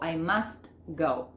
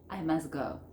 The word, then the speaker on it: must: Entonces, ¿cuál es la que no se pronuncia? La T. Yo no digo I must go, no. Voy a decir, como nativo, I must go. Fíjense que no pronuncio la T.